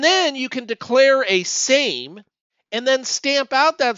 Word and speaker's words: SAME: concepts that's what the same project it stands for self-assembling machine learning environment the l is silent and for that what